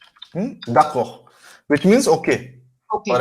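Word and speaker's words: d'accord: Dako. Mhm? Dako. Which means okay. Okay. Or agree, to agree. And then again, we don't pronounce the last d, okay? Dako.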